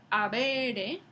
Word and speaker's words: habere: Entonces, la palabra latina, habere, esa H nunca se pronunciaba, ni en latín, ni en el castellano medieval, ni en el castellano moderno.